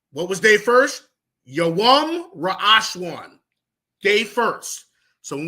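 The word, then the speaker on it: יום: Yawam is day. Yawam.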